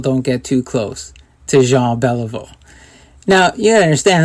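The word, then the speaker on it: Jean Béliveau: And I said, Jean Beliveau is coming here?"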